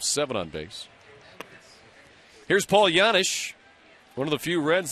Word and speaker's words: Janish: pronounced yanish instead of janish and Paul one time was asked so why you know the Jay with the Y sound instead of the hard J his answer I don't